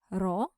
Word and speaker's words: rho: variables the linear correlation coefficient of the population pronounced as roow is equal zero and alternative hypothesis is that there is some linear correlation between the two variables raw is not equal to zero we use Alpha